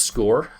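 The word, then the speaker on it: Scoir: We also use score. Um, SIR, pronounced score, like the score of the game.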